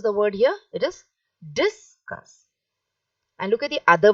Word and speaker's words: discus: same meanings are different the first one is discuss see so that this is said loudly and the cuss is said softly because here it is a noun the discuss is a